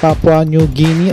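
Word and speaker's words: Papua New Guinea: salamat ma'am sa pagcorrect ang tamang sabi niya is sir ang ang pag-pronounce po sa bansa ay Papua Pap new guini papwa new guini or gin gini no gini no so palakpakan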